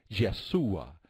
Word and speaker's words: Yeshua: nosotros yo soy en el hebreo hubiera sido yeshua y nosotros lo pronunciamos yo soy a